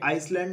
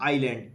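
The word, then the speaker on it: island: ये आइसलैंड नहीं होता, ये होता है आइलैंड, इसमें एस साइलेंट रहता है।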